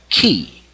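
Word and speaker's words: 気: the pure Mandarin and other ways, other languages, it's spelled qi. It means the same thing. Ki, Q, chi.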